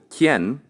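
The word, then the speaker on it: quien: i and u e the U is silent for example kien spelled q-u-i-e-n is simply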